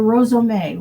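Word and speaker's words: rozome: The Japanese rosome or rosome, which is a Japanese version of batik.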